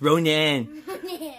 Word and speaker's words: Ronan: It's pronounced Ronan.